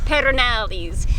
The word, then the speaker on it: Pedernales: It's the city of Pedernales. We had to look that up because we don't know. Beau says you have to roll your R's, but he can't roll his R's. Pedernales.